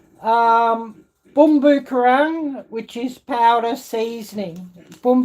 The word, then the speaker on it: bumbu: asian um supermarket um rajcik boomboo that's how you say it in indonesian um bumbu which is powder seasoning